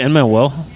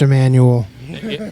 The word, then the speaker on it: Emmanuel: And did I just call you Emmanuel? Oh yeah, that's I worked with a guy named Emmanuel. Oh okay. So it's like burnt in my brain. It's pronounced Emmanuel. Emmanuel.